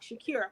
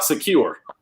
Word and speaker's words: Shakur: I need you to say his name right. I said Shakur. Who is Tupac? Who is Tupac Secure? Safe and secure from all alarm? Why is he there? Secure. That's not how you say his last name.